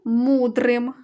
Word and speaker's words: мудрим: склад наголошений ла Ярославом друге слово мудрим протягували ми голосний звук у він і є наголошений а наголошений склад муд Мудрим так говорять бібліотека скарбниця